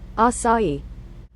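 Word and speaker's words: açaí: at Dollar Tree how do you say it asai asai is grown on asai Palm and it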